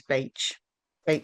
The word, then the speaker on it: Bach: If people know about flower essences, they know about bark flower remedies. The correct pronunciation I've been told very recently is Bach flower essences.